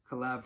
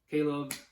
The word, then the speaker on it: Caleb: But we have the Tyson Furry interview with, I believe it's Collab Presley. So sorry if I pronounced that wrong. I don't know if you guys have seen these interviews, but Caleb, I said Collab.